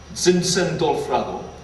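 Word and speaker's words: Zinzendorf: 찐센돌프라고, 독일 발음이거든요. 찐센돌프라고.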